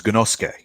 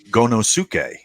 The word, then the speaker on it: Gonosuke: So, but his name is Gonosuke. But when you look at it, an American person looking at that word might pronounce it Gonosuke.